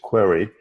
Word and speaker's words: Querai: The name of the company is Querai. It's spelled Querai, like you're running a query with artificial intelligence built into it.